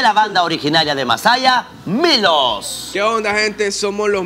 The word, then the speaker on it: M1LOS: Sí, lo pueden buscar en el canal de YouTube, salimos como Milos Oficial, solamente que Milos se escribe M1LOS, ahí están en todas